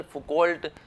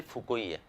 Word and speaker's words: Foucault: सही जो उच्चारण है इसका वो मिशेल फुको ही है। फ्रेंच व्यक्ति है और फ्रांस में जो प्रोनाउंसिएशन होता है फ्रेंच लैंग्वेज में, वो इसी तरीके से होता है, मिशेल फुको।